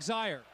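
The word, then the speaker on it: Zeier: Your impressions of the game, and particularly Eric Zaire. It rhymes with fire.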